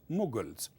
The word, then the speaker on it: Mughal: get the word muls but in English is pronounced mugal these days if the word is m o